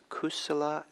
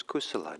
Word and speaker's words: kusala: buddhist term and it's uh in pali it's kusala and akusala kusala is spelled k-u-s-u-l-a no k-u-s-a-l-a and ako solos a